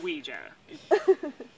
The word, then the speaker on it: Ouija: like I got an idea I found a Ouija board is that a uh how bored it's pronounced Ouija and they're all like a little like I